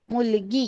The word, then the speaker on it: मुलगी: Pronounce कैसे करना है देखिए, MULAGI, मुलगी.